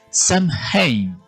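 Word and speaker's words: Samhain: Ese momento de transición se celebraba con la festividad del Samad pronunciado s que se escribe s a m h a i n.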